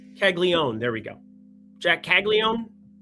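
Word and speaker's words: Caglianone: Jack Caglione. That N is silent.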